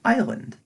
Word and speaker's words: island: dumb take the word island was what's that silent s doing there it's not as 'land or Iceland if we turn back